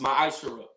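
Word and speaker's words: מעשר: It means 10th in Hebrew, and it's pronounced ma'ashara.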